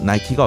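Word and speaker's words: Nike: 그렇게 싸우다 승리의 여신인 니케, 미국식 발음 나이키가 어떠냐고 제안이 들어왔습니다.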